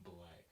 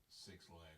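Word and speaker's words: 6LACK: That's how you pronounce it? Yeah. Okay. Wait, 6 Lack or 6 Black? It's black, but It's- you can call it six lag or whatever.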